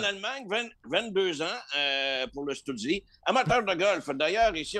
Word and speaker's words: Stützle: D'abord, c'est pas facile à prononcer, Tim Stützle.